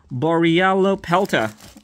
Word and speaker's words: Borealopelta: So we're gonna compare it to a new Dino Trackers how do you pronounce this? Borealopelta.